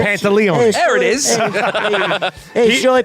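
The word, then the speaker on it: Pantoliano: Do you remember the one with Joey Pantatileone? Oh, sorry. Whoa. Pantalones?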